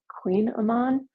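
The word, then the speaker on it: Kouign-amann: ofon which is like it's spelled like kugan Aman but it's Queen Aman um It's amazing And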